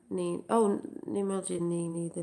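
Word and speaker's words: Nene: Some people spell it Nini, I spell it N-E-N-E.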